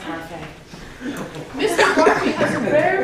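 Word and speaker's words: Barfée: It's pronounced Harfang.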